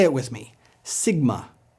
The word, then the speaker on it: Sigma: Sigma. It's pronounced just like our S.